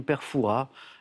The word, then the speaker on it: Père Fouras: célèbres sinon plus célèbre alors il y a un S alors les puristes prononce pas le S évidemment je vous accorde la bonne réponse on dirait a priori Père Fouras personnages de vierge qui